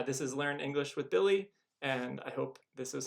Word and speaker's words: Billy: word, like my name, Billy. And so my name ends with a Y, but it's pronounced E at the end.